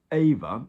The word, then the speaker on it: EWA: and it's brilliant so it's called ava it's spelt e-w-a like the polish ava i believe um and um